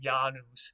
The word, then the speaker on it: Janus: pronunciation would have been janus like that with more of a y sound than a j sound uh he was the